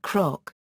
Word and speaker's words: cnoc: The word cnoc, hill, would therefore be pronounced croc.